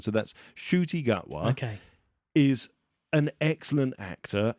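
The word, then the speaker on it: Ncuti Gatwa: It's Shooty Gutwa. Oh, well done. There's no N. Shooty Gutwa. It's Shooty. The sh sound is the NC sound. So that's Shooty Gutwa.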